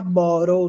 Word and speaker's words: bottle: Você fala na Inglaterra, borrow, nos Estados Unidos. Se T. Eles falam com som de rá.